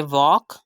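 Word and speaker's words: walk: हमने इसकी प्रोनाउंसिएशन करनी है टॉक, एल को साइलेंट करना है। थर्ड एग्जाम्पल है वॉक, फोर्थ एग्जाम्पल है यॉक एंड फिफ्थ एग्जाम्पल है फॉक।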